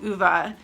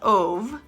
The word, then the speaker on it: Ove: So they ended up picking A Man Called Uva by Frederick Bachman, and they kept saying A Man Called Ove, which I know even